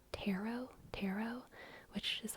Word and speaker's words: tarot: tarot tarot you the the last T is definitely silent everyone agrees on that okay everyone agrees that the last T is silent but everyone also is usually okay with either tarot or Taro taro tar